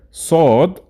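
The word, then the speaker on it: صاد: And let's quickly know how to pronounce each of them. Seen, sheen, and the next pair, sod, dod.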